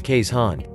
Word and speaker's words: Keeshond: hand means dog in dutch and together we pronounce them as kay's han the smiling dutch barge dog rode on small